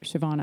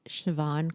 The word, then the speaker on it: Siobhan: Well, you've got so many great things to share, Siobhan.